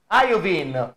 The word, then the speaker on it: Iovine: Is called Iovine because they pronounce Iovine.